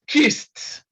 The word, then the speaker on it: kissed: Then the second one is kissed. Kissed. So the sound again is T because S is a voiceless consonant.